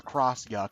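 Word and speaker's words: X-Yux: Yu oh no uh she just said it's pronounced the cross Yu yeah whatever it's it's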